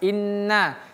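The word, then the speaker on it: إنّ: Nun ini tasdid. Ingat ditahan baru lepas. Inna inna hadzihi.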